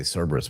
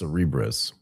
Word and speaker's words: Cerebras: Cerebras. Yeah, I want to say Cberus, but it's not that. It's Cerebrris.